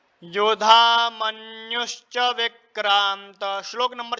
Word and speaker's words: मन्यु: श्लोक नंबर 6 है ना, श्लोक नंबर 6 में देखेंगे योधा मन्युश्च, यहाँ पर आधा न भी है और फिर यह है, तो इस उच्चारण इस प्रकार होगा मन्यु।